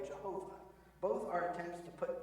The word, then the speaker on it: Yahweh: literally and by tradition you may have heard the term Yahweh or pronounced another way Jehovah both are attempts to